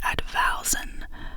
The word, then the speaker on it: advowson: The word is pronounced advousen with the stress on the second syllable.